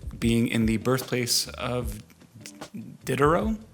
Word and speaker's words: Diderot: in the birthplace of Diderot? Diderot. Somewhere in between those two pronunciations.